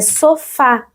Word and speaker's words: sofá: Si je retire l'accent, je vais lire sofa, sofa. Mais non, c'est sofa. C'est pour ça que les accents en portugais sont importants pour montrer quelle est la syllabe la plus forte.